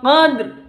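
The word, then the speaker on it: قدر: Jadi membacanya jangan ro-nya jangan hilang. Dalnya tetap sukun, ro-nya jangan hilang. Fi lailatil qadr. Seperti itu, qadr. Ada ro-nya.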